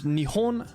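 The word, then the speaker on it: 日本: but you might know it in the word Nihon which means Japan and so our pronunciation changed from heat to knee but then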